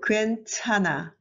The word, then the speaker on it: 괜찮아: So 흐 silent, no sound, and 르 is moved to the space holder. So 괜찮아, 괜찮아.